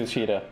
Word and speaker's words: Matsushita: Matsushita.